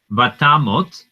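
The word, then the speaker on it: ותמות: Vatamot Sarah Bikiryat Arba Hi Hebron Be'eretz Kenaan. Vayavo Avraham lispod lisara velivkota. Okay, now vatamot. Now notice I say tamot with an O sound.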